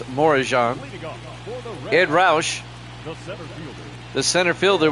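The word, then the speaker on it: Morejón: I believe that's pronounced Morajan.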